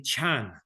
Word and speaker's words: Chan: were taken to China the word Diana became Chan when the Chan teachings were taken to Japan the pronunciation was changed to Zen so when you hear